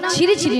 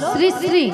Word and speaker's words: শ্রী: আরে মাসি ওনার নাম ছিরি ছিরি নয়, হ্যাঁ। বলো শ্রী শ্রী।